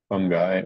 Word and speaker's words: fungi: be the homophone for another word that sounds like fun guy is but is spelled differently and thought bubble is another word for cloud so what we have here is fungi or mushroom room cloud